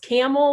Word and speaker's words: Campbell: some city's names like campbell ohio is actually pronounced camel like the animal i think that was